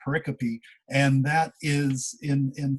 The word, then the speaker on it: pericope: stories are often called pericopes and if you look at it on typed out in words it looks like pericope like periscope without the s but it's pronounced pericopy and that is in